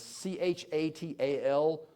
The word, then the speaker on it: Çatal: It's Chatal. Huyuk is spelled Hoyuk.